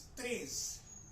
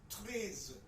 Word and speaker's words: treize: नाउ ई आई जब भी किसी वर्ड में फ्रेंच में आएगा, ई और आई, this will be pronounced as a, right? 1 2 3 4 वाला a। so this is treize।